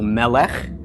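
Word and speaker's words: מלך: the lemon okay so this is pronounced M for the mem short II for the Sehgal L for the lawmen short II for the Sehgal under the lawmen and cut for the cuff so Melek and Mel F is a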